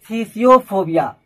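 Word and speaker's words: phthisiophobia: Next है थीसियोफोबिया। Guys यहाँ पी H silent है, टी एच आई एस आई ओ पी एच ओ बी आई ए, थीसियोफोबिया जिसे tuberculosis यानी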